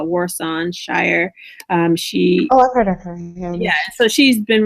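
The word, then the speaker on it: Warsan Shire: album um I think her name is pronounced uh Warson Shire um yeah so she's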